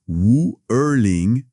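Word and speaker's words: 五二零: En mandarin, les chiffres 5, 2, 0, ça se prononce Wu Erling. C'est ça. Et si on le dit vite, ça sonne vraiment proche de Wo Ai Ni.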